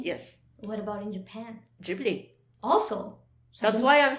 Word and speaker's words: Ghibli: The right pronunciation here is Ghibli. Ghibli? Yes. What about in Japan? Ghibli.